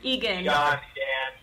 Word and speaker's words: Egan: I don't know how to pronounce Egan. That name. Egan.